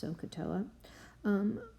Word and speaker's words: SOHCAHTOA: way of helping us remember it and it's pronounced sohcahtoa what that means is that the sine of